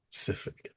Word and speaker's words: specific: Yeah, period specific. Period. Specific, Specific. specific. Specific. Yeah, three Specific. syllables. Specific. Specific. Spe Specific. It's almost like Pacific Ocean, but with the S, right?